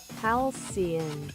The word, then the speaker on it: Halcyon: I don't even know if I said it right. Halcyon? Halcyon? I'mma let Google decide that. Halcyon.